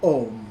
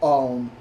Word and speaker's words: Om: And the great seed syllable tends to be described as Om by many people, or Aum, Aum, or Om.